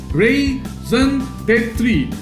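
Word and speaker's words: raison d'être: Our ration, what is the pronunciation? Ration de three, raison d'etre, meaning the most important reason for somebody's or something's existence.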